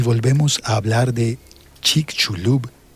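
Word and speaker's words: Chicxulub: una breve pausa y volvemos a hablar de Chik Chulub y del turismo científico. Chicul y al fin voy a explicar cómo se escribe. C H I C. X U L U Bul Chik Shulub y población que ha vivido cerca del cráter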